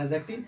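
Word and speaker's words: adjective: D silent है यहाँ पे, याद रखेंगे। एडजेक्टिव, verb, adverb, preposition, conjunction, interjection, conjunction and interjection, no problem.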